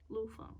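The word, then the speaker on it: Lu Feng: There's a pronunciation guide. Boop. Okay. Anja. Lufeng.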